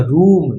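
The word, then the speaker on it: room: जैसे कि are double O एम। इसको क्या पढ़ेंगे? आर का उच्चारण र से, डबल ओ का ऊ से और एम का उच्चारण म से। तो ये क्या हो गया? रूम।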